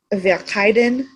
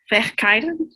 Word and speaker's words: Verhyden: try and say it via kaiden kaiden yeah it's weird because the r and the h together become a k but there's not a k in that